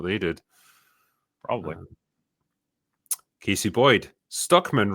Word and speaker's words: Stuckman: Stuckman rhymes with Druckmann.